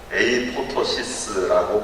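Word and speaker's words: apoptosis: 그것을 자살 프로그램 또는 원어로는 에이포토시스라고 발음한답니다.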